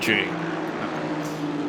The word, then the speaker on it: Chaney: It is pronounced. It's the same spelling, so I'm going to go with Chaney.